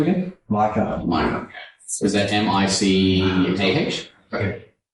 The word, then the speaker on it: Micah: Micah. Micah. Is that M-I-C-A-H? Okay. I thought you would have pronounced that Mika. No, my wife chose the name. Okay. It's just Micah.